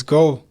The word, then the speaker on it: Geaux: Go is spelled Geaux. I'm from Louisiana, born and raised.